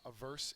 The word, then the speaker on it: averse: word is averse uh averse is an adjective second syllables accented uh this child here